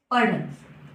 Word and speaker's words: पढ़: और यह है पढ़, क्योंकि जब ढ के नीचे बिंदी लग जाती है, ठीक है, तो इसका उच्चारण हम ड़ में करते हैं, ठीक है।